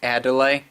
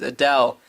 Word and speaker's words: Adele: beniker seriously pronounced Adele as a delay ah obscurest lupa hates me now - gonna have to bust out the Adelaide playlists for the break-up okay you gotta stop listening to the Italian disco mr. Medicare learn your pronunciations Adele not add too late you're thinking of the